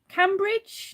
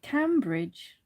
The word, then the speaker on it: Cambridge: is a good one is it cambridge or cambridge because there's cambridge which is um where's that is that towards london or something that way and then there's cambridge which is spelt the same but i call it cambridge which is near slim bridge in gloucestershire and the